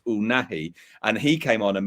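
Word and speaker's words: Unai: introduction of um I'm going to say his name wrong. I hope I said that right. Unahi.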